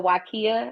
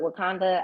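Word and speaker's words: Waiakea: is Evian and then it's the wakia everyone calls it wakanda I don't know why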